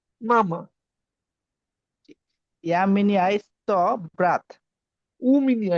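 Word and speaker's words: у меня: উ মিনিয়া, এটা কিন্তু উ, এটা কিন্তু আমাদের ওয়ার্ডে উচ্চারণ উ। যদি ওয়াই থাকে তাহলে এটার উচ্চারণ উ, তাহলে উ মিনিয়া ইয়েস ব্রাত, উ মিনিয়া ইয়েস ব্রাত।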